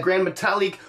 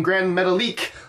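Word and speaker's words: Gran Metalik: on TV keeps saying grand metal leak like you put the emphasis on the last syllable if I remember my span of class is correctly supposed to go on the second to last syllable but less there's next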